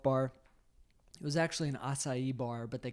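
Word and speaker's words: açaí: well so okay so I think I've been mispronouncing it so it's acai spelled ACA i yes I got left I almost got left out of Hawaii I called it a Kai that's what I've been called so it's you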